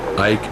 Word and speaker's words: Ike: Y le contesté, dicen Ike, que es como se pronuncia en español su apodo.